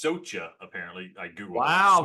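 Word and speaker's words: Soča: First of all, it's pronounced Socha, apparently. I Googled Wow, Socha. thank you for, figured I was wrong. Or Sacha.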